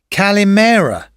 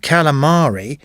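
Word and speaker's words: kalimera: Later in the holiday, someone told me that good morning is in fact calimera, not calamari. I'd been saying squid to them every morning, not good morning.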